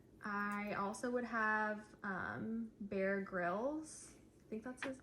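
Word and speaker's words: Bear Grylls: for these questions because they mispronounced the name Bear Grills, which means they did not know who he was beforehand. That would be Emily, who said Bear Growles, and then Lacy here.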